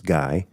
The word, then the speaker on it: Guy: I pronounced the name wrong. It's Guy.